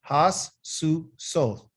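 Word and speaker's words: הסוסות: So if you, because it's three syllables, has, su, soth.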